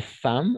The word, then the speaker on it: femmes: petite chose et les femmes on va prononcer les femmes oui on ne fait il y a le E ici mais on va prononcer femme d'accord les femmes jouent